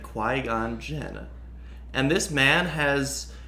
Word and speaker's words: Qui-Gon: the sheer audacity to pronounce it Qui-Gon Jinn in quigong there's no way gone there's not even